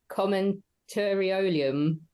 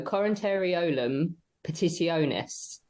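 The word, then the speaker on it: Commentariolum Petitionis: Is it commentariorum? No, Coronariolum Petitionis. That sounds better to me. You put the stress on the wrong syllable.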